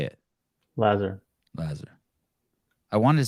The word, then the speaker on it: Lazar: Lazar.